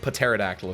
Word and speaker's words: pterodactyl: lurin you're right pterodactyl pterodactyl if you will with the with the silent PE all right so it's